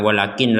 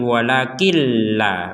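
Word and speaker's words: ولكن لا: langsung masuk ke lam jadi jangan jangan kita baca Wakin kecuali kita berhenti misalkan Al inum humulfsid Wakin Nah kita baca Wakin karena enggak kuat nafasnya di sini tapi kalau kita gabung bukan Wakin lagi tapi wakilla kita lanjutkan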